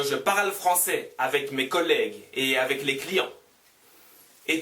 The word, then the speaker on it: collègue: Le collègue, le collègue, le collègue, le collègue. U 없었으면 le collège, le collège. Le collège는 중학교라는 말이에요. 그럼 U 있으니까 J 발음 안 하고 G 발음. Le collègue, le collègue, le collègue.